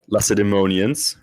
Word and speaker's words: Lacedaemonians: Then we have and we just looked this up, Lacedaemonians, right?